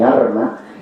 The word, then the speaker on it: alma: amigos del alma, o la muy sevillana expresión mi alma, que se pronuncia mi arma, y nos dice también muchísimo.